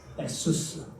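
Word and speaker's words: Ἰησοῦς: 에수스, 에수스. 이것은 헬라어의 발음이고 히브리어는 예수아, 여호수아 이게 본래의 이름입니다.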